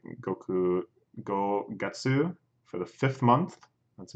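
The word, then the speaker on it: 月: is like Goku go get sue for the fifth month that's May every month my Suki so there it's pronounced Suki which is the reading for moon you probably heard that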